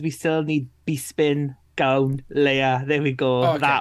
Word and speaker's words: Bespin: Bespin, that's how you pronounce it.